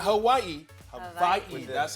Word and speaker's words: Hawaii: Hawaii. Not Hawaii. Hawaii. With the That's how V? it's pronounced. Yep, it's pronounced with a V.